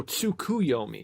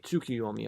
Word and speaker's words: Tsukuyomi: uh tsukiyomi um oh tsukuyomi tsukiyomi I've been slightly mispronouncing it this whole um time yeah it just